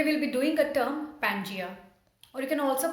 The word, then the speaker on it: Pangaea: Today we'll be doing a term Pangaea, or you can also pronounce it as Pangaea.